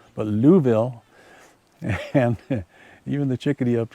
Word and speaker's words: Louisville: Louisville I'm told that's the proper way to pronounce it Louisville not Louisville or Louisville but Louisville and even the chickadee up here is going